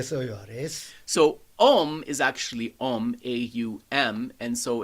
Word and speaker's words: Om: So Om is actually Om, A-U-M, and so it's a combination syllable of 3 letters, and this can be